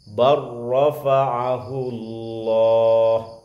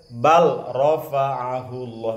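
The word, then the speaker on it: بل رفعه الله: Barrafa'ahu Allah. Lam ketemu ro sama. Bacanya tidak boleh bal rafa'ahu Allah, mesti bar rafa'ahu Allah.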